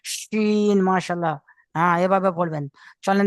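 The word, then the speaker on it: شين: Scene, তারপরে একটা শিন, মাশাল্লাহ, এটা চেপে বলবেন, শিন, মাশাল্লাহ।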